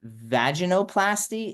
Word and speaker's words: vaginoplasty: surgeries typically involve that I always pronounce this wrong Dr Zara can you help me vaginoplasty is that it yeah that's right vagin um or vulva